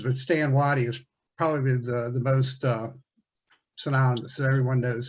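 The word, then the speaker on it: Stand Watie: He has like 3 names, but Stan Waddy is probably the most synonymous that everyone knows about.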